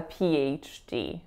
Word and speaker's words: PhD: like that there's an invisible Y in those words. Also keep in mind the link between the P and the H. I want you to pretend that that Y is joining both of those syllables. So it's not a PH, it's a PH.